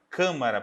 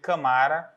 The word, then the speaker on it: câmara: Se eu não marcasse essa sílaba aqui atrás, eu poderia ler camara ou camará. Então fica muito longe do final, a tendência é que eu lesse camara.